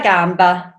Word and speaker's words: Gamba: the coronavirus from Camilla Gamba. Gamba? Either way, in Italian it's Camilla Gamba.